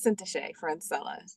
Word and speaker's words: Syntyché Francella: tell you her name and how the proper pronunciation for it thank you my friend my name is cint friend Cella so thank you so much for having me